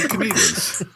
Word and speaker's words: echidnas: It's echidnas. What now? It is. It's like a dish.